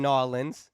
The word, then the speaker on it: New Orleans: I read that you grew up in New Orleans. That's how the locals say it.